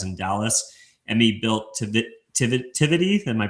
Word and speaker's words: Tivity: Coupled with her personal roots in hospitality, her father owned a premier catering catering enterprise in Dallas, Emmy built Tivity Tivity Am I pronouncing that right?